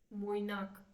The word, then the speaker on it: मोइनाक: निर्माल्यो और मोइनाक, मतलब ओ ज्यादा होता है बंगाली में, यस मैम।